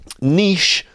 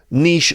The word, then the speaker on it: niche: for a niche product in America it could be pronounced Niche Niche um I think some Americans say Niche but also you might hear Niche so anyway you'll find